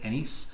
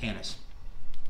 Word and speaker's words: anise: don't know how to some people pronounce it a nice some people pronounce it anise it's typically what you're